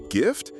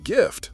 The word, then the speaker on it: Gift: The English gift, a present, a talent, rolls off our tongues daily, an innocent expression of generosity or skill. The German Gift, however, pronounced much like the English Gift, is unequivocally poison, a venom, a toxin, something lethal.